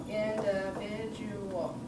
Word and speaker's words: individual: five okay individual okay so where's the stress in that word individual individual individual what would you we individual individual individual or individual are you with me on that yeah Mariam not with me no did you did you hear the five syllables yeah okay so thinking about then where we're going to stress that word individual listen to how I say it individual yeah it's on in it's on in can